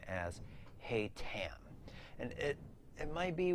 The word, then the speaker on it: Haytham: this novel being written in the format of hatham's journal outside of the epilogue where it is